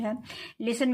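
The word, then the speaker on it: whole: है इसमें के साइलेंट है लिसन मीन सुनना इसमें टी साइलेंट है शुड मीन चाहिए इसमें एल साइलेंट है होल मीन संपूर्ण इसमें डब्लू साइलेंट है वक वक मीन चलना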